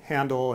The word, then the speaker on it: Handel: And people routinely would spell his name H-E-N-D-E-L, which kind of indicates that they were pronouncing it in the German way, and nowadays we spell